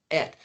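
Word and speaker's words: את: So you say et Aleph Tav, but if Aleph is silent, you should just say that's the T sound. But what about the Aleph? So we say et.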